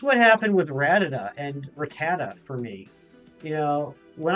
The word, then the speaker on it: Rattata: anime and you know back in the old Canto days it was ratted up I don't know when it became Rattata turns out you never